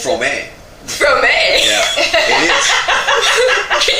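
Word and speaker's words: Fromme: I even know how to pronounce her name correctly. Oh. Do you? No, what is it? It's Frome.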